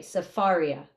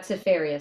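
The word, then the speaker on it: Sefaria: okay yeah uh s-e-f-a-r-i-a safaria not cepheria Safari s-e-f-a-r-i-a got it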